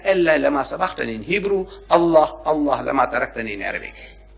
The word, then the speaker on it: Allah: It is not Allah, it's Allah. Not Allah, it's Allah. Say Allah. Allah.